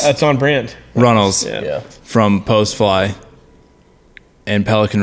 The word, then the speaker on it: Runnals: from Badfish and from... No, I said it wrong. I threw the D in there. It's fine. We just had a discussion about this. I thought that was pretty good. Runnals.